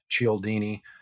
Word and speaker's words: Cialdini: Cialdini.